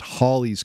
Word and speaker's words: Halley: to tell us that it should actually be pronounced Holly's Comet but by that point calling it Haley's Comet had already stuck news reports would transition